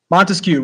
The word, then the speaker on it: Montesquieu: Montesquieu, right? 3-syllable last name.